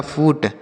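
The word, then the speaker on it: foot: तो आपने देखा यहां पे भी डबल ओ है और यहां पे भी डबल ओ है। लेकिन यहां पे हमने छोटा ऊ की मात्रा पढ़ा था और यहां पे हमने बड़ा ऊ की मात्रा पढ़ा। ठीक है?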